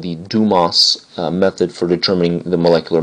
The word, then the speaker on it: Dumas: what we've been doing is something called the dumas method for determining the molecular mass now it's pronounced dumas although some college students you know use a